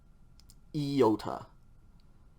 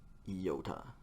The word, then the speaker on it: iota: equivalent of i okay iota yota and um i believe the textbook gives the example uh a pronunciation example as the i in machine e machine okay iota so once